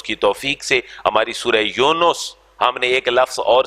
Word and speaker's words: یونس: یا پیش اور واو نون کے اوپر بھی پیش اور اس کے بعد سین. یونس.